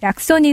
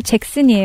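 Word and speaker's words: Jackson: 팔고 있습니다네 굉장히 재밌습니다 스티나 약손이 사실 잭슨이 영어 발음으로 아 배만지면 낳는 손이 아니고요 할머니 손이 아니고 이게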